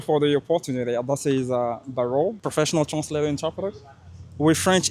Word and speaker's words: Barro: Barro. The first is on the second syllable.